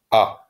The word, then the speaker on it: آ: First, we will look at the first form pronounced ah.